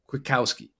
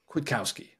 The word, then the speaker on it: Kwiatkowski: I think the K is pronounced. I looked it up so many times, Will, so many times, and sometimes I felt like I'd hear the K, and then sometimes I wouldn't.